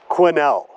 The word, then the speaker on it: Quesnel: Prince George and then the quno quinel silent s tabber Mountain Trails Recreation